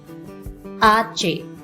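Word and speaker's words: hache: and k so empezamos letter h is pronounced as archae arche and it sounds as well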